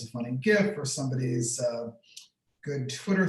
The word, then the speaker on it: GIF: whether it's a funny gift or somebody's uh good twitter thread and i'm very uh i just want to note that gif is very important that that's with the hard g and if you pronounce